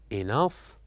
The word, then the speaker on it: enough: Enough, laugh, and tough. This is just to help us know that sometimes words in GH pronounce as F sound.